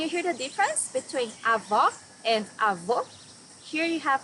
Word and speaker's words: Avó: Here you need to hear the sound of the last O in the syllable. It should be an open O, as we say in Portuguese. Avó.